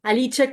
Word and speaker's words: Alice: Alice, estoy pronunciando bien tu apellido. Sí, sí, sí. Aliche Colombia.